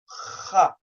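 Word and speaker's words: خ: to pronounce the letter kha, kha and ra, ra. To some, they may sound the same. They are not the same because when you pronounce them, they come from two different locations.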